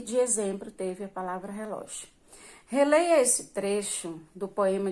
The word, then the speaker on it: relógio: Então, qual é a sílaba? É o ló, né? A segunda sílaba da palavra relógio, que é a mais forte.